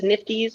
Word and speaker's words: NFTs: not frozen um and pick nft's nifties or how do you pronounce it i i definitely lean towards nfts yeah sorry about the